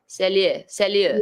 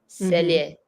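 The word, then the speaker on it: sellier: In this case, it's because the way it's written, so it's 2 syllables. And so you would pronounce the first syllable like this. This is the first syllable. Cell. And then lier. Cellier. Cellier.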